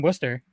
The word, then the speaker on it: Worcester: that's the thing is it's spelled warcaster but we call it worcester and then you go